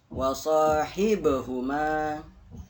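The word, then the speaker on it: وَصَاحِبْهُمَا: Wasahibhuma. Hib. Nah, itu ada qalqalah. Salah satu huruf qalqalah itu huruf ba. Hib ketika dia mati memantul.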